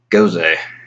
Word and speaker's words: Gose: goes a and yeah I'm pretty sure to be pronounced goes a is spelt G o s B but if it originated in northern Germany then the EES going up make it sound like goes a this is gonna sound